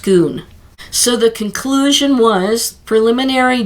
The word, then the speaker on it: Scone: the stone of schoon so it's spelled like scone like the Italian scone but it's really pronounced schoon so the conclusion was